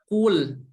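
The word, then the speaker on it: قُل: Huruf qaf berharokat dhamma harus dimonyongin, ku. Kemudian huruf lam berharokat sukun harus ditarik ya mulutnya. Kul, bukan kul, tapi kul.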